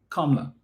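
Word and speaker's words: Kamala: Well, when she comes back, she has to say start saying her name is Kamla, not Cam. All right. Because Trump say that's how her name is to be pronounced and whatever upnot says is what we abide by.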